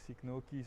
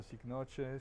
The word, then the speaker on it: Cycnoches: And uh so, today the subject is basically the culture of these guys, Cycnoches or Cycnoches, there's two pronunciations.